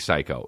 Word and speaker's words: Syke: Psych like Big Psych got you, or like Big Psycho? No, I think it's Big Psycho, even though it's spelled SYKE, but of course it is because rap.